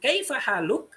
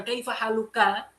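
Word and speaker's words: كيف حالك: Oleh karena itu kan saya bacanya tadi gimana? Kaifa haluk, bukan kaifa haluka. Kalau kalian ingin berhenti, enggak. Orang Arab itu ngomongnya kaifa haluk.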